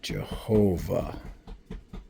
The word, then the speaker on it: Jehovah: And do you see that Vav? The dot is on top. Can you see that? That's the O sound.